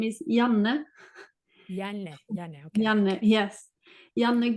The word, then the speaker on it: Janne: How do you pronounce your name? So hi, yeah, my name is Janne.